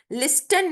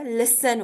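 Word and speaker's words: listen: नहीं बोले घोस्ट बोलेंगे लिस्टन नहीं होता लिसन होता है लिसन वच टी साइलेंट है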